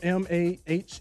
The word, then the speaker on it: Maher: Spell it. Uh, B I mean Bill. M A H E R.